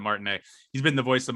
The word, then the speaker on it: Martinet: he pronounces it charles martinette it has a t at the end but i think he pronounces it martin a he's been the voice